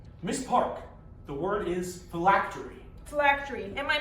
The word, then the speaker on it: phylactery: Miss Park, the word is phylactery. Phylactery. Am I pronouncing that correctly?